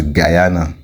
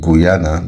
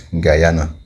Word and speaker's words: Guyana: But they actually pronounce it as Guyana, like guy. Guy, guy. So instead of Guyana, they pronounce it as Guyana.